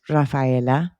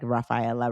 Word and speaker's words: Raffaella: also get to meet Raphaela. Did not did I say when I was reading it, I probably did say it like Raphaela rather than Raphaela how I know how to say it.